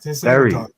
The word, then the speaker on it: Derry: Derry.